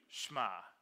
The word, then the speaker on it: Shema: I heard someone pronounce it Shema. I thought that doesn't sound right. I Googled it. Shema. The emphasis is on the ma. Shema.